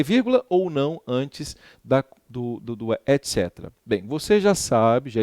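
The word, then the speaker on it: et cetera: Bem, a palavra etc, né, vem do latim etc, não se fala coetera, etc, é assim que se pronuncia em latim, significa e demais coisas.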